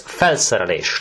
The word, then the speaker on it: felszerelés: And felszerelés, oh, this is long, isn't it? Okay, now let's do it one syllable at a time. Fel, se, re, lés. There you go. So, felszerelés.